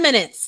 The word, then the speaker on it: minute: say I have ten minutes left in class you know that's like 60 seconds times 10 so minute in my knee my knee yeah the intonation is just a little bit different here okay yes what would